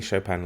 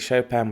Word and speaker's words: Chopin: it's by kate chopin i'm saying chopin like the composer i hope that's the correct way to say it and uh who is